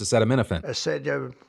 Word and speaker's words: acetaminophen: The best part was Trump trying to pronounce acetaminophen.